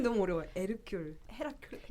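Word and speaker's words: Hercule: 에르큘, 헤라큘. 이 이름에 헤라큘레스. 대해서 한번 발음해 주세요. 에르큘.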